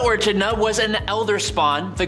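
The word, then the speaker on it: Echidna: show up for example a kidna or achidna however you want to pronounce it AK kidna or a chida was an elder spawn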